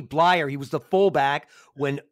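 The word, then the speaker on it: Bleier: i'd hear from block rocky blair it's rocky blyer rocky blair rocky blyer it's pronounced rocky blyer he was the fullback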